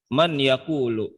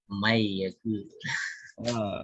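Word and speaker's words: مَن يَقُولُ: Coba bacanya gimana? Man yaqulu. Aha. Yang ini kagak beres nih yang begini nih. Mai yaqulu. Kalau kita yang belajar tahu gitu ya. Bacanya man yaqulu gitu.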